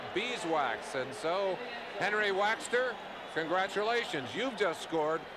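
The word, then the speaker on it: Waechter: And I know you Bear fans even call him Henry Wechter up there, but he told Merlin, did he not, that, hey, they're mispronouncing my name. We walked in and talked to him Champaign, Illinois, and said, Henry, how do you pronounce your last name? Because I didn't know. He said, it's Waxter, just like beeswax.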